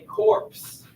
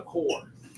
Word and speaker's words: corps: should say that word looks like corpse right something funny about english is we don't always pronounce all the letters i'm helping you be a smarter person don't ever say corpse that's not how you say that word it's called a core core of discovery some